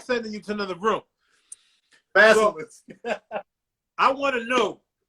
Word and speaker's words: basilisk: to another classroom due to correcting the teacher's pronunciation of basilic. Correct me, Al. Basilic. Does this ring a bell? Yeah. Say it again. Basilisk.